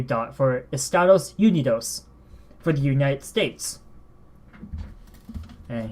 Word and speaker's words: Estados Unidos: we use ee dot u u dot for Estados Unidos for the United States and here's the spelling